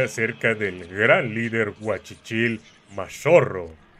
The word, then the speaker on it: Mascorro: del Gran líder guachichil mashorro que de acuerdo a las crónicas se pronuncia majuro 1554 fue el año